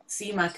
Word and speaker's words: CMAC: uh introduction to um cmac as well is it ceo do you say cmac or is it called c-e-a-m-c i'm not sure how to say it we we would say c-mac c-mac thanks grant and